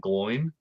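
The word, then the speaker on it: Glóin: I think you of all people, Andy Serkis should know it's Oin and Gloin, not Owen and Glowin.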